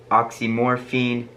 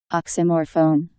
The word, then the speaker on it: oxymorphone: theory says that the rev overdosed on oxicon oxymorphine dizzy pant dizzy pam nort nordisia pam and alcohol i totally screwed up those pronunciations let's actually listen to what it really was oxycodone oxymorphone diazepam nor diazepam all right yeah i totally